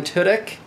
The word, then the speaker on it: Tudyk: Tudyk. Alan Tudyk.